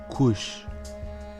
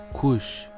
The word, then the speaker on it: kuş: Le U se prononce OU, comme dans le mot couche, couche, l'oiseau.